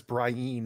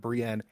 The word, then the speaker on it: Brienne: is exactly the opposite he says brian instead of brienne and that is wrong i don't care like